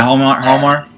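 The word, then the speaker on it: Hjalmar: You've also got, is it Harold Jamar? How do you say it? Yeah, Halmar. Yeah, that's it.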